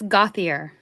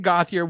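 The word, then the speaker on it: Gauthier: running blender you tell me so the correct pronunciation is oh okay so it is all right you say it uh it's gothier yes thank you for Austin that Austin gothier we I think at one point we did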